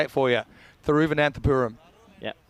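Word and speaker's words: Thiruvananthapuram: but can you have one more go at pronouncing I'll even say it for you through van anthapuram yeah sounds good you now you try sorry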